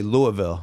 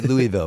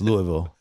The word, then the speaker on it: Louisville: should say it correctly Louisville so Hayley our shyness it doesn't get mad at me Louisville Louisville I would say Louisville but its Louisville Louisville you have to say it like you drunk Louisville but apparently they